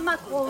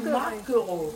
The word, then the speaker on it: maquereau: On ne dit pas maquereau, on dit maquereau. Maquereau. Ben oui, pareil. Ben non, en créole, la queue, on ne prononce pas.